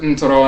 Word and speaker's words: Ntoro: in the Akan language, from NTR or NTRT, Ntorou, we pronounce it Ntorow in Akan. Ntorot, we pronounce Ntorou or Ntong in Akan.